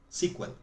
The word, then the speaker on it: SQL: Que suena igual que SQL. ¿Se entiende? ¿Cómo se pronuncia SQL entonces? SQL.